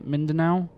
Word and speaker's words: Mindanao: near davao and mindanao is how you say mindanao is still under friendly control we still have